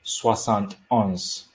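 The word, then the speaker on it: soixante et onze: same rule as rule number two would be swasant ons okay so how do we get to swasan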